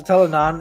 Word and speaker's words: Telon: her seriously so yeah so telon is pronounced like settle on in i didn't realize